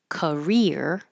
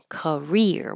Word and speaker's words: career: up a lot actually career career with the stress on ear um is similar to